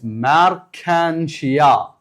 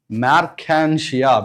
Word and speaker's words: Marchantia: But the best example for thalloid plant body is Marchantia. Just pronounce it. Marchantia because these scientific names you must repeat along with the teacher.